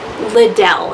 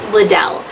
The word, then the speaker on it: Liddell: Liddell. I guess I should stop pronouncing it that way. It's Liddell.